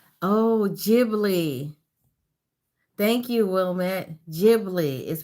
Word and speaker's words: Ghibli: Ghibli is pronounced Studio Ghibli.